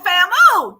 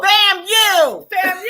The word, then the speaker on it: FAMU: There's a lot of people that pronounce it FAMU because that's what it looks like. FAMU. That's what it looks like. She tried to correct me before we went on this. It's just FAM, then the U.